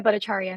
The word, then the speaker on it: Bhattacharyya: Bhattacharya. No, tell me how shall I pronounce your name correctly? Very close. I'm Bhattacharya.